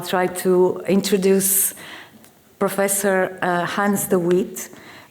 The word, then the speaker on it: Hans de Wit: Uh with no delays uh I'll try to introduce professor uh Hans the wit Hans the vit I think it's uh the the formal pronunciation and it is with